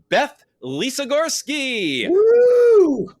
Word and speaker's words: Beth Lisogorsky: us a very special guest fellow sub stacker Beth Lisa Gorski we got the the pronunciation right didn't we didn't we there yes